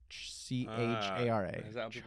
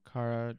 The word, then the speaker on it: Chara: that right c-h-a-r-a um I remember it was supposed to be a word that you could pronounce multiple ways so it was fluid like in terms of that's our feminine versus masculine you know Cara Chara Kara Dara pharah um but undertale offers